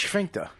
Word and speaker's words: sphincter: Just laughed at the way you said sphincter. It's sphincter. Why do you say it like you're a fucking German, like Sphincter. like Goebbels?